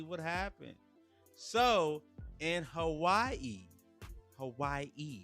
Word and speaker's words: Hawaii: happened so in Hawaii Hawaii you gotta say it like that because the locals out there when you get Hawaii